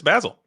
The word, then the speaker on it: Basil: Four Cinderellas for Basel. And I got to correct you. We do have a certified Englishman in the uh in the commentary booth and it's it's Basil, correct?